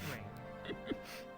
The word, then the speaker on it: Rain: Is it Ry or Rain? Rain.